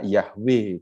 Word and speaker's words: Yahweh: huruf besar semua itu dalam teks hibrani AKB48 WH dan biasanya orang membacanya dengan kata Yahweh itu Tapi kalau bepergian ke